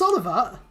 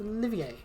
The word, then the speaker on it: Olivier: Prince Oliver? It's Olivier.